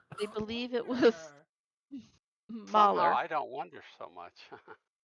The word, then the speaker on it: Mahler: isn't that Moeller? Cursed Oh, us all. Or It's a gorgeous Malar. piece of music. I Millar. think it's Mahler. I think you put the L with the first syllable.